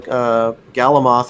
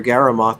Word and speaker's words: Galamoth: Noteworthy detail, Galamoth or Garamoth, depending on how you want to pronounce it.